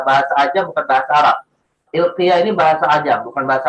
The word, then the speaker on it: Ilkiya: Ilqiyah bi kasril kaf wa fathil ya al-mukhaffafah. Qiyah ya. Ilqiyah. Huruf kafnya itu kasrah, kemudian ya-nya mukhaffafah.